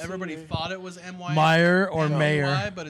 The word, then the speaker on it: Mayer: MEYER.